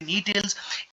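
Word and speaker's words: Gnetales: यहाँ पे आप जो यहाँ पे देख सकते हैं, यहाँ पे जी साइलेंट रहते हैं, इनको हम पढ़ते हैं नी टेल्स।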